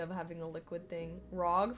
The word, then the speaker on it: ROG: ROG, pronounced like rogue.